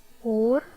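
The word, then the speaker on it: أرز: It's a noun, so no vowels while pronouncing it as well. Okay, try to read it. Orz, orz, orz, orz.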